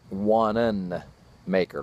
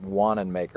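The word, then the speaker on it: Wanenmacher: it's uh if you it sounds like one and maker look up one and maker like w-a-n-e-n-m-a-c-h-e-r and that'll be close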